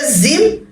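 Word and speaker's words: جيم: অনেকে জিম এবং জায়ের মধ্যে প্যাচ লাগিয়ে দেয়, জিমকে বলে জিম আর জাকে বলে যা।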